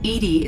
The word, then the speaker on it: EDI: why are you named edie is the phonetic pronunciation of edi that is an acronym for enhanced defense intelligence where are you my